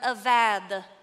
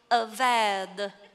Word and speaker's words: avad: Now, in the original Hebrew, that is the word avad. I sounded just like when you hit that play on Google, avad. That is how you say the original Hebrew word.